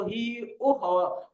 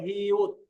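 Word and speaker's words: 히읗: না, এটা বাংলায় কিন্তু হি উহ হওয়ার কথা। আমরা যদি কোরিয়ানদের নিয়ম না মানি তাহলে এটা হওয়ার কথা হি উহ, কিন্তু ওইভাবে হবে না, এটা কি হবে হিউট এরকম, এটার মতো উচ্চারণ হবে হিউট হিউট।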